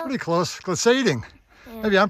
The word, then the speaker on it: glissading: It's that gliding hill. Pretty close. Glissading. Yeah. Maybe I'm pronouncing it wrong as well.